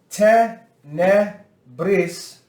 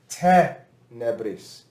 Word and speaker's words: tenebris: Whenever you have two consonants like this together, usually that makes the syllable long. It means it makes it long to speak. But when we have te, ne, bris, it would feel like because we have length here, it would be tenebris.